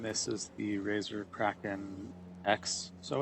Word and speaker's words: XeSS: I think they pronounce it like XS. So if you just hear me saying XS, then that's basically what I mean. I could say XESS.